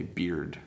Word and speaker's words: beard: Okay, beard. D. There's just a little D sound at the end.